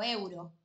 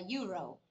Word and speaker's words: euro: A ver, cuando hablamos de currencies, que hablamos de plata, de dinero, mucha gente me sigue diciendo euro cuando hablamos en inglés. Y en realidad sería euro.